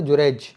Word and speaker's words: جریج: یہ عربی تلفظ ہے جریج، اور انگلش میں آج کل اس کو جارج کہتے ہیں.